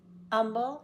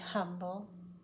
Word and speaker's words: humble: hour the man is humble and honest sometimes people say humble more often it's humble you say this with